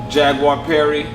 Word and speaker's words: Jaguar Perry: Jaguar Perry. Jaguar_Perry. It's spelled like it sounds, like the animal, JAGUARPERRY.